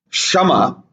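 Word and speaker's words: शम: control of the mind it's called shama not shama shama and means equal so these have to be carefully pronounced otherwise the meanings can change means to tolerate and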